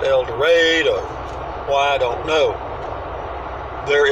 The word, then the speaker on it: El Dorado: going to El Dorado they don't pronounce it El Dorado they pronounce an elder ade why I don't know